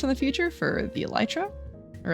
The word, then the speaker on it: elytra: not needing fireworks in the future for the elytra or elyra I I've always said elytra but apparently it's pronounced elytra I don't know Iron is going to be